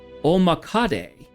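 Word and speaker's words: 大百足: Pronounced Omakade, literally 100 legs, literally 100 legs in Japanese.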